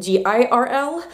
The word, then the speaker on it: Grrrl: Now the girl in Riot Grrrl is traditionally spelled with 3 R's instead of 2, and it's not spelled G-I-R-L, it's girl, like grr, yeah, okay.